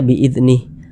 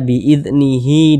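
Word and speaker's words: بإذنه: panjangnya ini tidak berlaku makanya dibaca biidnih akan tetapi kalau misalnya kita tidak berwakaf di sini ya kita tidak berhenti di huruf Ha ini kita teruskan bacanya kita wasalkan barulah tanda madnya ini berlaku sehingga dibaca biidnihi dan seterusnya tapi kalau kita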